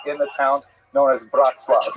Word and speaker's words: Bratzlav: the town known as Bratzlav not to be confused with Bratislava and it's usually pronounced in Yiddish as breast. the Nerm breast love uh